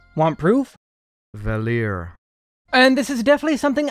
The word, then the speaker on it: Valere: Yes, it's pronounced Valir. Want proof? Valir.